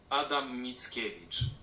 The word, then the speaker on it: Adam Mickiewicz: Well, let's hear how that's actually pronounced. Adam Mickiewicz.